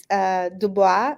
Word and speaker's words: Du Bois: As you brought up Dubois, I don't really know how you say that in English. Americans say Du Bois.